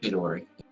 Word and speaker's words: Chidori: It's Chidori. Like from Naruto, Chidori.